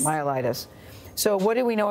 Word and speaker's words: myelitis: flaccid myus myelitis how do you say it myelitis myelitis so what do we know about it at